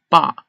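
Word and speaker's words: 爸: This character means father, and it's pronounced in Mandarin as ba.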